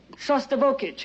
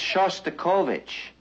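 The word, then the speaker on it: Shostakovich: Uh, we're hearing uh Shustokich, you know, that's Shustikovich. And since you're a musician, it might not be a bad idea if you learned how to pronounce it.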